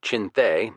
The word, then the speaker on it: Chinthe: Wingate's Chindits, a mispronunciation of Chinthe, the Burmese word for lion, and Merrill's marauders fought